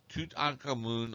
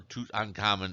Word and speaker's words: Tutankhamun: Tutankhamun or Tutankhamun is the common pronunciation.